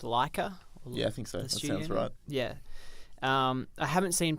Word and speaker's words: Laika: which these guys did I think it's pronounced Lika yeah yeah I haven't